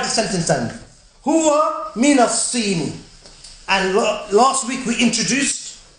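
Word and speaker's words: الصين: As-Sin is China. Huwa min as-Sini, and we already mentioned that Sad, the lam is not pronounced because it's Sad is a sun letter.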